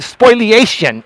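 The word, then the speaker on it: spoliation: Spoil spoilation is the proper pronunciation.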